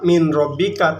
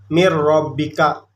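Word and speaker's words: مِن رَّبِّكَ: mirrobbika dan tidak mirrobbika nggak nggak dibaca Min rabbika tapi dibacanya mirrobbika jadi lunya ini langsung Kerok mirrobbika tapi dibacanya enggak kayak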